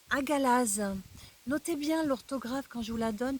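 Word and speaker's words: Hagalaz: Elle se prononce Agalaz.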